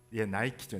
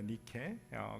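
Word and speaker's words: Νίκη: 승리의 여신의 이름이 나이키죠. 니케입니다. 니케. 그리스 발음으로는. 그래서 그 나이키 그 회사에서 제가 사는 곳에 그 나이키 회사가 있거든요.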